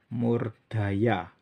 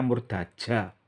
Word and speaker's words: Murdaja: Karena aksaranya pakai Ja. Dalam apa? Aksara kawi Ja ya dibaca Ja. Nararia Murdaja. Ya. Bukan ejaan Belanda. Kalau ejaan Belanda Ja dibaca Ya. Tapi ini aksara kawi. Kawi Ja ya dibaca Ja. Kalau dibaca Ya ya nggak benar.